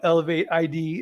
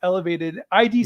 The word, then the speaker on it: elevated ID: org I know you call it elevate ID it's it's spelled sorry about that sorry no it's okay no uh it's it's spelled that way but I it's elevated ID stands for the invisible